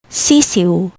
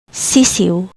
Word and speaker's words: sisiw: Ew, like kiwi. Example, sisiw, sisiw, meaning chick.